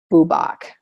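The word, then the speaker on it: bwbach: And actually the correct term is boobach.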